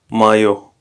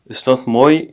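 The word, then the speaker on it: моё: Mayo. Mayo. It's not moi, it's mayo. Different pronunciation.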